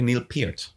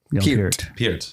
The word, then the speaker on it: Neil Peart: Neil is a correct pronunciation, by the way, Neil Peart. Peart.